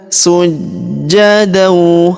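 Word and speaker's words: سجدا: Kalau kita berhenti di sini, maka tanwin an-nya berubah menjadi fathah ya, dan tanwinnya menghilang. Lalu kita panjangkan 2 harokat. Perhatikan. Wadkhulul baba sujada.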